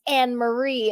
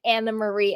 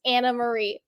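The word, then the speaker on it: Annemarie: and speaking of it she does pronounce her name Anna Marie I had this Troll and my comments a little bit back was like I can't listen to someone who doesn't know how to pronounce her name it's an Marie and I would and I was like I'm pretty sure she pronounces it Anna Marie and she does she does it's Anna Marie so hi troll thank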